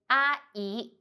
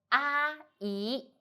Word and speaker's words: 阿姨: The word of today is 阿姨. In this video, I will teach you how to pronounce it, how to write it, and how to use it.